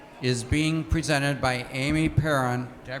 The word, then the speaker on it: Perron: This session, Aging in Place with Assistive Technology, is being presented by Amy Perron. Did I pronounce that right?